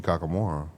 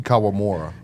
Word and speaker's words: Kawamura: I'd rather play Yuki Kakamura over Rob Dylan.